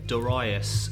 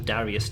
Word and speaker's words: Darius: okay next one is Doris - or Darius - however you want to say it I believe it's Doris basically just going on the pronunciation of the Japanese cut the comma it